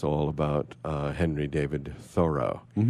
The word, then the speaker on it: Thoreau: It's all about Henry David Thoreau. That's Thoreau, not Thoreau, but that's a whole nother story.